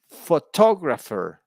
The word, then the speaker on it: photographer: on the first syllable in the second word the word stress is on the second syllable photographer yeah or photographer some